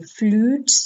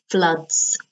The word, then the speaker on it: floods: you can have floods notice the pronunciation flutes no floods okay okay so yeah